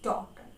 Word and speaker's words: daughter: Okay, so if for example daughter word, okay, in daughter word gh are silent. We always pronounce daughter word as daughter, no matter where we live in the world.